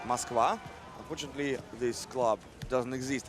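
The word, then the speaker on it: Москва: In Russia it is pronounced like Moskva.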